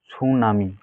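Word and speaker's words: tsunami: মধ্যে টিটা কাটা যাবে টি এর কোন উচ্চারণ হবে না এখানে টি সাইলেন্ট থাকবে আমরা উচ্চারণ কি করব সুনামি এই দেখ এখানে কি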